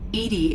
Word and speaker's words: EDI: is a jar why are you named edie edie is the phonetic pronunciation of e edi that is an acronym